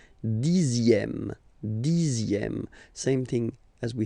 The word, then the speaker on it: dixième: Le dixième, so remember, even if you've got this X here, you pronounce it Z. Dixième, dixième.